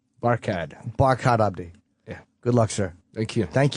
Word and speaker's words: Barkhad Abdi: It's Barkhad Abdi.